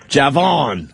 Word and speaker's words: Javon: to this guy, do you pronounce the J or is it silent? No, I pronounce it. Javon.